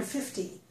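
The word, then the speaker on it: fifty: you say 15 or 50? The way that you distinguish between the two is by changing the stress. So to distinguish between 15 and 50, change stress.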